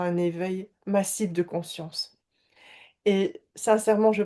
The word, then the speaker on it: Mas: Aujourd'hui, j'ai eu l'envie de vous présenter Mass, c'est Mass ou Ma ? Comment est-ce que tu prononces ton nom ? On prononce Mass effectivement, on prononce le S.